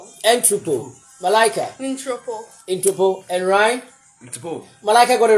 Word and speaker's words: ntropo: It's N T R O. P-O. Jenna, how do you pronounce this word? Entropo. Entropo. Okay. Malaika. Non-tropo.